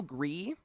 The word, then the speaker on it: Gris: Gree? Spelled like Gris, like Gris.